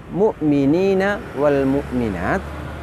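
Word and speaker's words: المؤمنين والمؤمنات: Lafaz mukminina wal mukminat ini dibaca panjang.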